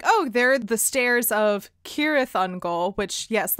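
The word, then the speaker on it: Cirith Ungol: goal which yes like i said the entire time i was reading the book i said seareth on goal and this was even knowing someone had told me that basically all of the c's in tolkien are pronounced like a hard k so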